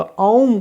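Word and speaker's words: ॐ: ध्वनि का उच्चारण करते वास्तव में ओम नहीं आ उ और म तो इन जब आप इनके योग का औम का उच्चारण करते हैं तो इससे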